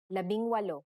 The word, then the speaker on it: labing walo: Labing walo.